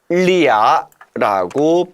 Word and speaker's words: 俩: 两个人 이 표준어지만 이것을 한 글자로 압축하기 위해서 리아라고 발음하게 된 겁니다.